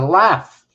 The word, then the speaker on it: laugh: some letters become silent how do you say g and h gazentite is that you say g h no you say it as an f it's a laugh it's also a gateway